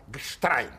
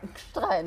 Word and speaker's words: Gstrein: Wir kommen jetzt zu einem Österreicher, Norbert heißt er, glaube ich, mit Vornamen, Gstrein. Gstrein. Habe ich richtig ausgesprochen.